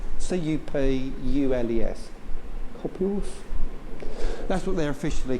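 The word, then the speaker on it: cupules: Copule, how's the correct pronunciation? C-U-P-U-L-E-S. Copules?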